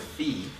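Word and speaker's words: phi: El tomato tomato um I pronounce it Fe because there's another letter called Sai and then you just kind of mix that up right there's a PSI and then there's a pH I so I just just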